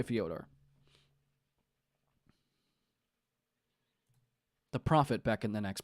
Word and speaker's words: Fyodor: Oh, it's probably like Theodore.